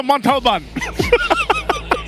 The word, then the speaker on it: Montalban: How do you say Montalban? Is that right? Montalban. There you go. I'm pretty sure if you told the driver to go there, he would figure it out. Para po sa Montalban.